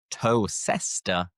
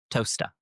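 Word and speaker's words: Towcester: But looking at this, you would think it is toester, but no, it is toaster.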